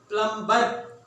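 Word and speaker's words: plumber: प्लम्बर। नो, इट्स प्लम्बर, प्लम्बर। यहां पे silent क्या करेंगे आप? B silent.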